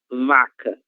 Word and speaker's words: vaca: O som da letra V, que vocês já viram que é totalmente diferente do som da língua espanhola. Então é V, vaca, vaca, vaca.